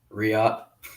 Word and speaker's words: Riyadh: right here's a question how do you say riyadh re-up okay cool i just can't real